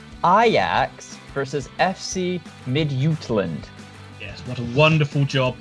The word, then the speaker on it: Midtjylland: Right, Ian, listen to me because I'm pronouncing both of these teams correctly. Ajax versus FC Midtjylland.